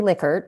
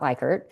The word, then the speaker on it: Likert: this from my dissertation, it's actually Likert, not Likert. Um, Oh, people yeah. don't want to pronounce it that way because I guess it sounds dirty or something, but that's actually how he pronounced it.